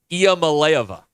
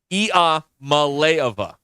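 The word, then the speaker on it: Iamaleava: personnel and at long last I have the pronouncer for Tennessee's quarterback are you ready for this I don't like this Nico IAM malova hey Nico e malova how about Pokey he's coming here I mean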